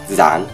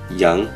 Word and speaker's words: rắn: rắn và giáo dục trong giọng Bắc rắn, giáo dục Nhưng trong giọng Nam r được phát âm là /ɹ/ d và gi được phát âm là /j/ rắn, giáo dục Sự khác